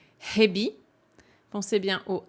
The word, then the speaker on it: 蛇: normalement quand il est tout seul il se prononce Hebi pensez bien au h c'est pas hebbi la